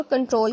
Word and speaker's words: Ctrl: उसके बाद CTRL की, इसको प्रोनाउंस करेंगे शॉर्ट फॉर कंट्रोल की।